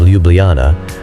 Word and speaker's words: Ljubljana: Slovenia's capital city of Ljubljana, pronounced Ljubljana, is located right in the middle of the country, with only 280,000 inhabitants and a relatively small old city center.